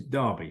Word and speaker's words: Derby: speak English here but the football team is pronounced Derby County as well so the pronunciation for us is Derby so so it's a it's a derby well